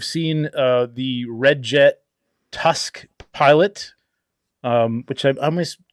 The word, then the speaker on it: T.U.5.5.C.: uh the red jet Tusk pilot um which I've almost always weird to say Tusk when there's two fives I know I know it's it's it's pronounced Tusk but um from the